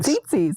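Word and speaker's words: tzitzit: tzitzis. I was like, is it like tzatziki? Tzitzi. Tzatziki. You're going to have a problem. That's literally where my brain went. But it is spelled T-Z-I, so tzitzi.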